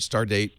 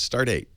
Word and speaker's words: Start8: still work I like it is start8 start dat it is come to think of it you said it right it's start eight even though it's start and the number eight I think that was